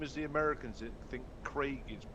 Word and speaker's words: Craig: Is this the same as the Americans that think Craig is pronounced Crag?